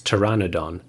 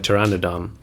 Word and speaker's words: Pteranodon: it wrong I think I'm pretty sure the p is silent so it's Pteranodon um but I've heard